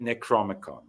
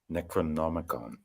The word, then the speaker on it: Necronomicon: in the middle so it used to be necron four syllable and now it's five syllable with no in the middle it's so typical it's typical necrom NEC Necronomicon okay okay I got